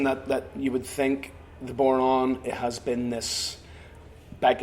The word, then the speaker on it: bodhrán: I say Bodhrán, by the way, rhymes with moron.